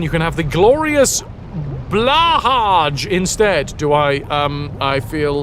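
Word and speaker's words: Blåhaj: It should be pronounced Blahaj, because it's fun to say. It's really fun to say. I think it's more like Blue High?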